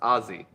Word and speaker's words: Aussie: Shepherds on the postgame Aussie is pronounced Azie it is but we call them